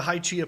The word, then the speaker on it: Hachiya: is come up on a pronunciation that says hachiya this is a hai chia persimmon okay and then it's